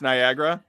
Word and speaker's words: Niagara: Niagara? It's Gatorade. Niagara Falls, yeah. Ugh. It's Niagara. Oh god. Hey, I'm moving to the south, so it's going to be a complete disaster. It rhymes with Viagra.